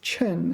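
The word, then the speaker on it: 对称: 对称, this is one of the cases where this is pronounced chen, fourth tone.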